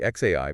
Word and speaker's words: xAI: into the world of AI sounds good specifically X AI pronounced xai and their latest creation grock 3 yeah